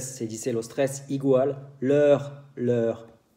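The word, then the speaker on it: leurs: Por fin, si hablo de ellos, ellas, en francés se dice los tres igual, leur. Aquí hay un S que no se dice, entonces los tres se dice igual, leur.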